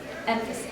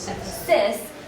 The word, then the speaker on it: emphasis: the word, emphasis, so the emphasis is on the first syllable, but if you sang it and you really highlighted the last syllable, so if you were going emphasis, then it would sound kind of unnatural.